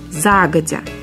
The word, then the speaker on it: загодя: это заранее или заблаговременно ударение падает на первый слог загодя других вариантов произношения нет филологи полагают что загодя